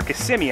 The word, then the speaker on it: Kissimmee: Margaritaville Orlando is actually in Kissimmee, believe it or not. Or Kissimmee, I think it's properly pronounced.